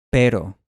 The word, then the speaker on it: pero: Si has logrado mantener el mismo sonido durante todo este tiempo, ahora puedes pronunciar este sonido del español en las palabras cero y pero.